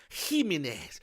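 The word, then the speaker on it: Jiménez: this game level Oh says Jimenez is pronounced he mean is okay so rock rock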